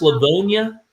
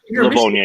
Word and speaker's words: Livonia: Is that pronounced Livonia? It's no, it's Michigan, but Livonia, yeah.